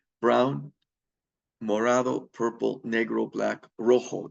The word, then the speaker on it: rojo: Mor purple negro black Rojo there's that J is pronounced like an H red and rosalo pink